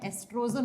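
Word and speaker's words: oestrogen: लिखा जाता है ओ से प्रोनाउंस करते हैं तो ओ साइलेंट हो जाता है। एस्ट्रोजन होता है।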